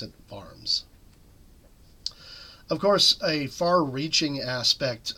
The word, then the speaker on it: Worms: of the vs I know it looks like worms but we pronounce it VMS of course a far-reaching aspect of the Reformation